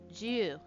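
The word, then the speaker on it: じゅう: It's a little elongated because it has an extra U at the end to make the U longer.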